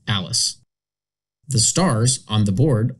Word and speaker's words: ALISS: For example, the spelling of the Alice departure is pronounced Alice.